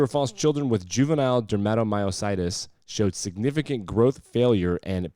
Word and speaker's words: dermatomyositis: Children with juvenile dermatomyositis. Oh, did I mispronounce it? Dermatomyositis. Dermatomyositis, yes. Dermatomyositis. It's the T's, man. I always underpronounce T's.